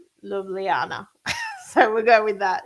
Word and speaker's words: Ljubljana: I think it was Ljubljana. Slovenia. I think that's how you say it. It's the capital of Slovenia, and it's got a lot of consonants in it, but we were saying Ljubljana.